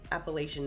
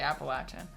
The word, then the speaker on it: Appalachian: I grew up, they taught me how to say Appalachian Mountains. Oh, yeah, I say Appalachian.